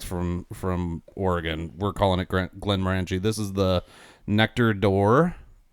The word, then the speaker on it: Glenmorangie: I've always said it Glenmorangie.